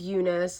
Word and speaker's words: Eunice: sitting in my room so my name is Unice literally pronounce and then well I just pronounced